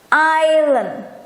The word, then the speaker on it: Island: Jadi E-nya kita baca seperti dalam kata kemarin, ya. E. Silent letter, silent letter. Island.